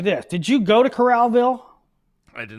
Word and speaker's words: Coralville: It's Coralville. It's Coral and then Vville.